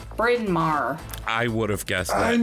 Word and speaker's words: Bryn Mawr: We have a street in Chicago called Bryn Mawr. You don't want to know how it's spelled. It's literally, I'll say it, spoiler alert, BRYN space MAWR. Bryn Mawr.